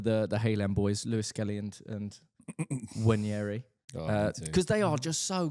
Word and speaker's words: Nwaneri: Not Nwaneri. I found out it's Wanyeri. Everyone says Wanyeri and I was like... Silent N.